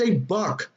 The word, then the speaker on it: GBUC: It's pronounced a buck.